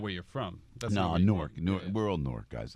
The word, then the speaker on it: Newark: That's Newark. Yeah. We're all Newark, guys. Isn't everybody from Newark originally in Jersey? Newark. That's it. My good friend Steve Malanga from City Journal. Yeah, Newark.